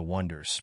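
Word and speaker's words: Oneders: one- hit wonder band the Wonders pronounced wonders in the 60s is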